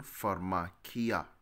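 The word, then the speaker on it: φαρμακεία: see what it means transliteration means for machia pronunciation for makia all right look at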